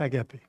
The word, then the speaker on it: agapé: Je l'ai mis en grec, agapao, mais on prononce agapé.